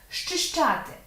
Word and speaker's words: зчищати: Зчищати. Тут ми чуємо, що з взагалі не вимовляється. Вимовляється зчищати. Ми в жодному разі не кажемо зчищати. Нам важко це зробити навіть артикуляційно. Тому у слові зчищати буде